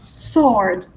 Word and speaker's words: sword: Sword. Sword. No. You don't pronounce the W, okay? Sword. Sword. Yes, the W is a silent letter.